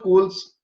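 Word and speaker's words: Scholes: holes it may appear but actually it is pronounced robert coles has written three important books on his structuralism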